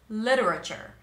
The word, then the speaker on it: literature: and it sounds like literature let's break it down lure literature the second syllable L the t is flapped so it sounds like a d l and then going